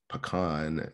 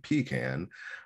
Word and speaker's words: pecan: And my ever favorite is pecan and pecan. Of course, pecan is the right way to say it. But there is also pecan, and that's also accepted by people as well.